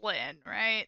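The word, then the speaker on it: Lynne: the name that likes it is pronounced Lynn there's like an extra e in there yeah it's like a silent it's the white e it's it's just there you know hey I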